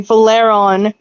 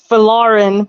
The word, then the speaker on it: Valarin: I can't even pronounce like Valeron. Like it's Valarin, but I keep pronouncing it Valeron.